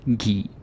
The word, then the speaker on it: give: to give but again this is usually pronounced ghee real life thing oh